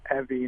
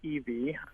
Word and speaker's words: Evie: We were one of the first people to pronounce my grandmother's name correctly. It was Evie, not Evie, so she'd be very happy to hear that.